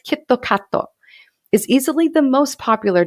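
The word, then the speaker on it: キットカット: me for years kitkat which is pronounced in japanese as kittokato is easily the most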